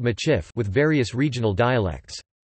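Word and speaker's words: Michif: Traditionally, the Métis spoke a mixed language called Machif with various regional dialects. Machif, a phonetic spelling of the Métis pronunciation of Medif, a variant of Métis, is also used as the name of the Métis people.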